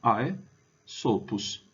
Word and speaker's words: Aesopus: né AES prima est Então a primeira parte é AES Opus altera sílaba altera sílaba a segunda sílaba Então é só a gente juntar ae sopos ae sopos que era